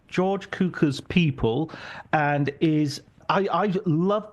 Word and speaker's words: Cukor: Cukor, is that correct? Cukor. Yeah. You're like cue ball, Cukor.